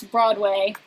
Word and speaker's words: Broadway: both stressed but generally when you pronounce broadway it is broadway you put this the stress on the first syllable uh and i think